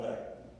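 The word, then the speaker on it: Veeck: it myself he misspelled back thank you the back is v-e-e-c-k and and David uh he didn't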